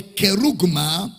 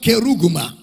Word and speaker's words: kerugma: Because he is using a keruso, or the kerugma of the written form.